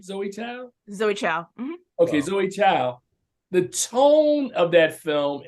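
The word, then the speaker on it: Chloé Zhao: chance with with uh Zoe how do you pronounce the name Zoe Zoe Town Zoe ciao okay Zoe ciao the tone of that film and the amount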